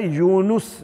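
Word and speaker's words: یونُس: یونس بول دیتے ہیں، یونس نہیں ہوتا ہے، یونس، نون کے اوپر زبر نہیں ہے، نون پر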